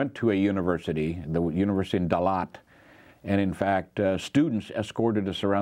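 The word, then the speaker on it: Đà Lạt: Dalat is Da-Lat, it's 2 words.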